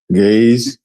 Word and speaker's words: Ge'ez: Is it Ge'ez or Gaze? Gaze. Ge'ez, right. I did say it right.